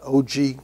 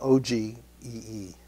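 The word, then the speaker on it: ogee: Okay, so I like this little reverse curve, also often called an OG curve. It always feels weird saying that. It's spelled O-G-E-E. So OG, that's a nice curve.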